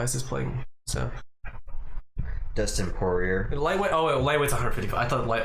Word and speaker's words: Poirier: Is it Poirier or Poirier? It's Poirier. Poirier. Yeah. I think it's French pronunciation.